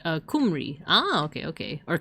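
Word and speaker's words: Cymru: You pronounce it like uh kumri. Ah, okay. Okay. Or camry.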